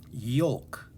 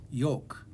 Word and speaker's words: yolk: called the yolk and it has this silent l kind of like walk has a silent l or talk has a silent l yoke also has this